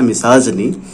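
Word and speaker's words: misogyny: एंड जाइन word जो है वो विमेन से जुड़ा होता है, यानी कि मिसोजाइन यहाँ पर है, मिसाजनी, जिसको पढ़ेंगे प्रोनाउंसिएशन इसका है मिसाजनी, तो मिसाजनी का मतलब हो गया घृणा, किसके प्रति, औरतों के प्रति।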